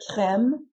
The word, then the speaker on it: crèmes: But even though we added an S to make the noun plural, the pronunciation of these nouns doesn't change from the singular form to the plural form.